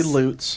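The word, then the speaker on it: Lutes: the loots is lucifer spell it for me l-u-t-e-s loots just say loots is what i can't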